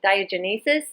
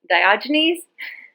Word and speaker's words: Diogenes: I was saying Diogenes, and it was actually Diogenes.